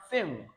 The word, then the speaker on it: think: Remember, I told you that when N comes before K, you still pronounce it as represented with this phonetic symbol here. All right. Then we have think, think.